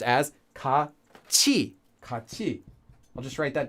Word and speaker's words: 같이: Now it's written as 같이, but it's pronounced as 같이, 같이.